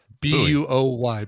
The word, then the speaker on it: buoy: B-U-O-Y. Buoy. Yeah, buoy. Some people say boy. I say buoy.